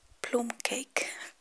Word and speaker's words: plum cake: called plum cake or as we actually pronounce it plume cake um i have no